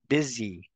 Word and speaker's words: busy: of them Su we don't we do not say Susi as we do in Spanish suy we say Suzy Suzy that is the same for the next word bsy busy and the last one